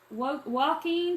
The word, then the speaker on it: Joaquin: Hey, Ann from Joaquin, Texas.